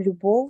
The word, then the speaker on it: любов: в кінці слова наприклад слово любов ми з вами вимовляємо чітко в кінці у нас є звук в він ми його пишемо якщо ви пам'ятаєте фонетичну транскрипцію як у нескладотворче однак Якщо звернутися до